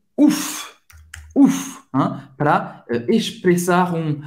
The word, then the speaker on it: ouf: Você vai pronunciar esse F.